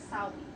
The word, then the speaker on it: Samhain: And so what they did is they started something called it looks like it's spelled Samhain, but it's Samhain in the Celtic language.